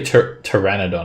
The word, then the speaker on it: Pteranodon: It's actually Pteranodon.